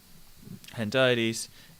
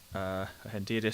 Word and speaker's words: hendiadys: Okay, so just to redefine for you very clearly, Hendiades is Hendiadys, sorry, I can never pronounce it correctly, is where two nouns either side of and instead of noun plus adjective.